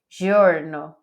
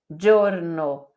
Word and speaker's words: giorno: então d e di como que a gente iia em português gesso gesare jorno em italiano é gesso gesare giorno teme igual DJ DJ